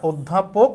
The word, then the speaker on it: অধ্যাপক: অধ্যাপক ধয়ের উচ্চারণ ডাবল হইতে হইলে একটা দ একটা ধ হবে, তাহলে উচ্চারণ হচ্ছে এটা অধ্যাপক।